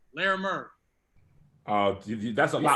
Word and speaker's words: Larimer: How is it pronounced? Lawrence and Larimer. Larimer.